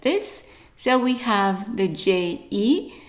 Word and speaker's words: je: And remember, E, that when it's attached to only one letter or one sound, it's pronounced as an E. So the first word here would be pronounced, try it, je, je.